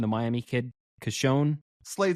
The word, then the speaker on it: Cecconi: The Miami kid, Cashone? Slade Cecconi. Cecconi, yeah.